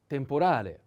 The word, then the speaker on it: temporale: The last one, temporale, temporale, temporale. The accent is on A. Temporale.